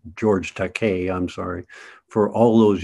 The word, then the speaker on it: George Takei: I mispronounced his name. It's George Takei, I'm sorry. For all those years, I'd been saying Takei, and then just as we signed him up,